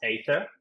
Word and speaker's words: Aethir: off pronouncing the name they're like is it ather uh I I've heard a number of different pronunciations and and I'll start there it's pronounced Aether and the origin of the word I think